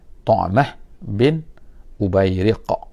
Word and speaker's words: Tu'mah bin Ubayriq: Tu'mah bin Ubayriq, gitu bacanya, iaitu Tu'mah. Ada kalau tulisan Melayunya, tulisan Ruminya dia tulis Tu'mah gitu kan, dia Tu'mah, Tu'mah dengan ta.